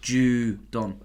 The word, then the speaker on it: Judon: It's pronounced Judon. But in capitals, JOO-DON small.